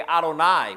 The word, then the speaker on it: Adonai: It's four Hebrew consonants. It's yode vi and and sometimes now we as English-speaking people we will say Yahweh but if if you were Hebrew and you were reading the text you would not pronounce that name. So when you got to that name you would say Adonai which is a a